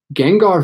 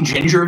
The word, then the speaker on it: Gengar: I think I always say Ginger Venom, and it's not because there's an A in it. I think it's Gengar.